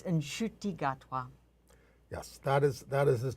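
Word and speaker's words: Ncuti Gatwa: We want a correction on the pronunciation of the gay star of Doctor Who. Oh, well, my understanding was it's Nshuti Gatwa.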